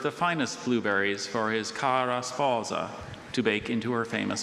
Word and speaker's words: cara sposa: Just so anyone doesn't wonder, Dr. Bailey wasn't exaggerating that pronunciation. That's what the dictionary says to do with that word. Others are more English sounding, but with that word in the dictionary, that's how you're supposed to say it.